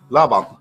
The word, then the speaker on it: Laban: In Norwegian, you say Laban. Laban.